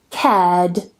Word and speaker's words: cared: And the last one here, cared, cared. I don't pronounce the R because the following sound is a D.